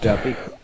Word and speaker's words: Dufay: It's pronounced Duffy.